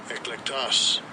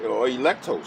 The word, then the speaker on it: eklektos: Eklektos. Eklektos. Eklektos, or electos, some people pronounce it, the elect.